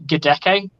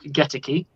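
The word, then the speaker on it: Goedeke: And it's not Luke Gedeke. It's Luke Geteke.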